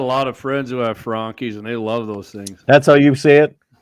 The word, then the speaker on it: Franchi: Hey, I got a lot of friends who have Frankies, and they love those things. That's how you say it? Yeah, that's how they say it.